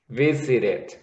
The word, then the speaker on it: visited: Now you have 3 syllables. You would say visit, visited. So you have 3 syllables. Okay, so in the pronunciation here is it, extra syllable, visited.